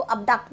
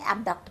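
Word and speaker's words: abduct: इसको अबडक्ट भी बोल सकते हैं, एबडक्ट भी बोल सकते हैं, दोनों प्रोनाउंसिएशन करेक्ट हैं बिल्कुल, ठीक है.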